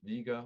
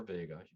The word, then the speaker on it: Vega: aquila the eagle and vega or vega either pronunciation is fine in lyra the harp